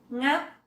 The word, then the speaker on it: ngáp: Ngáp, dấu sắc.